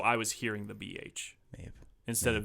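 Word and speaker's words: Mebh: Maeve. M-E-B-H. But spelled or pronounced Maeve. They were saying Maeve. I don't know. It's subtitles. Subtitles. It's spelled like that, but it's Maeve.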